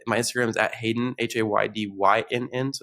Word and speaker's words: Haydynn: It's my Instagram is at Haydyn, Haydynn, so it's spelled different.